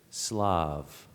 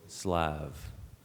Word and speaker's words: Slav: Your word, I'll give you two pronunciations. Your word is Slav, also Slav.